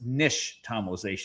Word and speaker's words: nixtamalization: It's an Aztec word and the X is actually sh. So, it's nixtamalization. And I know it's such a hard it's such a hard word to pronounce. Nixtamalization. Nixtamal. Like tamale. The word tamale comes from it, for sure.